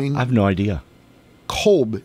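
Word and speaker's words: Kotb: Kolb. It looks like Cotb, but I don't know how to pronounce that quite Hoda honestly. Colbay. Is it Colbay? No, it's just Kolb.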